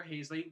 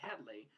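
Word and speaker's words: Halsey: they went okay so Dr hazley which they ended up pronouncing Dr Headley so they changed her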